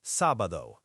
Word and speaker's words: sábado: Saturday is sábado, S-A-B-A-D-O, pronounced sábado.